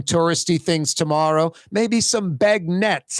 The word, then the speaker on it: beignets: things tomorrow maybe some Bag Nets I think it's pronounced bag Nets get some Bag Nets